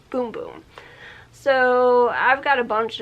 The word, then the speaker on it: Bum Bum: i thought it was bum bum cream i thought the celery was pronounced because it's spelled bum bum but apparently it's pronounced boom boom so i've got a